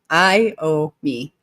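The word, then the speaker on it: Iommi: educating me on how to say his name I ow me I owe me yay um vman is saying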